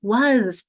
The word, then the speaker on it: was: Now it sounds like a Z, but it's represented by an S. I spell it like S, even though I hear Z.